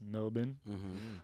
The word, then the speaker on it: Melbourne: And also we were in like we went to Melbourne, but it's pronounced Melbourne. Melbourne, not and- Melbourne. Yeah, Melbourne. fun fact, Melbourne. Melbourne. Yeah, the R is silent.